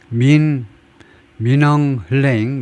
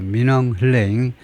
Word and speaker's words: Min Aung Hlaing: 민엉 흘레잉, 뭐 대충 그 정도로 발음하는 것 같아요. 민엉 흘레잉, 이 사람이 already deeply unpopular, 이미 무지무지하게 인기가 없는 지도자다 이거죠.